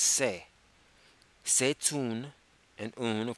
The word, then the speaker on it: c'est: Now, in this instance is not spelled E-T. It's actually spelled E-S-T. So that's se, which is C apostrophe E-S-T. It's pronounced se.